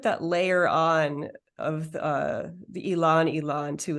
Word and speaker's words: ylang: you say Elan, is it spelled Ylang? Yeah. Ylang. Yeah. I was today's years old when I learned that's how you pronounce that. I've always said Lang Lang.